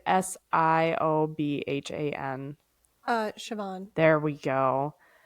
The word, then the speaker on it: Siobhan: S I O B H A N uh Siobhan.